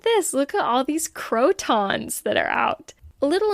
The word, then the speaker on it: croton: to mention also that croons that's how you pronounce it I've been calling